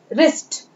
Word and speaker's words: wrist: इसकी भी शुरुआत हो रही है K से, लेकिन हम इसको क्या पढ़ेंगे, नाइट। K जो है वो साइलेंट लेटर है यहाँ।